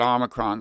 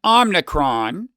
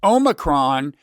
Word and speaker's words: omicron: big pronunciation issue about omicron last week and i got a lot of grief for that i was unfairly derided online here's what happened i mistakenly said um omnicron without realizing i don't